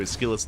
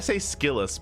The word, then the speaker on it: SKillous: I say SKillous, but I just ignore the O, I guess.